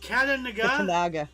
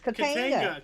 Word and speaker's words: Katanga: Katanaga? Katanaga. Katanaga. There's no A after the A. Katinga. Kantiga. Kantiga. Katanga Became part of the Katanga. Democratic Republic of Congo. Okay. Katanga. It's Katanga. Katanga.